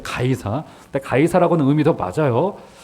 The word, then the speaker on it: 가이사: 시저를 우리가 그 음대로 읽었을 때 가이사. 근데 가이사라고는 의미도 맞아요. 카이사르, 가이사, 시저라고 발음하는 바로 그 로마의 황제를 말하는 겁니다.